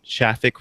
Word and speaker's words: Shafik: And as always, in no particular order, I already mentioned him once, but it's Shafik, rhymes with traffic, developer advocate at Akamai and release manager of PHP 7.1.